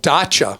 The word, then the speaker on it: Dacia: In Europe, there's a company called Dacia, I think is how you say it, D-A-C-I-A, that sells new vehicles that people have really loved.